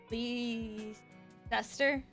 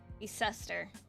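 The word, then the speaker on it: Leicester: help me out here Poli SE leester Lester Lester that's that word the studio has scaled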